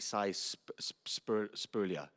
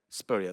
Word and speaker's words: Spurrier: Him and I can't say his name properly, Spurlia. Somebody say it? Spurrier, that's it, right there.